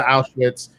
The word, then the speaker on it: Auschwitz: The fact that he is trying to work with Julian Edelman, go to Auschwitz, that's how you say it, by the way, Rocha.